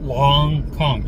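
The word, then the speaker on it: longkong: Long Kong just sound it's spelled just like it sounds long Kong like King Kong.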